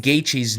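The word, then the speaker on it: Gaethje: you look at Justin gaichi's name if you just look at it how the do you say that right like you wouldn't think it's gaichi but that's how you say it so anyway gaichi's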